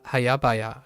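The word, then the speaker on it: 早々: it's hayabaya, right? Hayabaya. I totally had the second syllable incorrectly.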